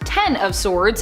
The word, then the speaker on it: X of Swords: X of Swords, pronounced Ten of Swords in relation to the tarot card, is a mutant event